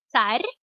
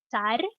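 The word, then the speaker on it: царь: it in Russian is Tsar. That's Tsar. That has the soft sign on the end, and if it did not have a soft sign at the end, it would be Tsar versus Tsar.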